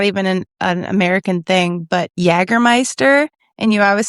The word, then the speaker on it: Jägermeister: an American thing, but Jägermeister. And you always say Jägermeister. Yeah. And I'm like, why is that the one J that you pronounce and it's not correct?